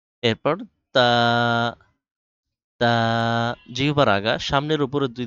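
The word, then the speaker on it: ت: ঠোট থেকে বা দুই ঠোটের ভেজা জায়গা থেকে উচ্চারণ করতে হবে বা এরপর তা যেহেবার আগা সামনের উপরে দুই দাতের আগার সাথে লাগান তারপর উচ্চারণ করেন তা উচ্চারণ হবে জিহবার আগা সামনের উপরের দুই দাঁতের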